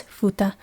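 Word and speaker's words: 二: The reading is futa. The example is futari or two people.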